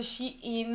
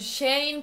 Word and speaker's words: Shein: Innanzitutto, questa volta l'ho chiamato Shein e non "Shane" perché una ragazza è stata un po' scortese e mi ha fatto notare che, visto che collaboro con l'azienda, dovrei almeno pronunciarlo correttamente.